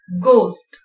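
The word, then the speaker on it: ghost: G வந்து ஜியோட க சவுண்ட்ல pronounce பண்ணுவோம். கோஸ்ட், கக்கின், ஊர்க போடுறதுக்கு யூஸ் பண்ற ஒரு வகை வெல்ட்ரிக்கா, அதத்தான் கக்கின் அப்படின்னு சொல்லுவோம்.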